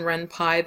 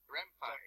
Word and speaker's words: Ren'Py: So the really high level goal is to learn the practical knowledge of Python and Ren'Py that you're going to need in order to make an RPG with Ren'Py.